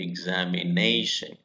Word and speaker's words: examination: hotel and examination know when you say the word examination there are five syllables nation and you have to have the stress on me examination so all the words